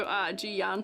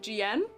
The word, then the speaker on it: Jiyan: Similar style to Jiyan to me. Oh wait, Jian? I think I was saying his name wrong before.